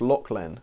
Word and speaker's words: Lachlan: It's pronounced Lachlan, by the way. Okay, Lachlan.